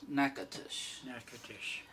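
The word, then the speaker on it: Natchitoches: indians but anyway the the louisiana town is n a t c h i t o c h e s okay now all of that is three syllables nakatush uh and that's where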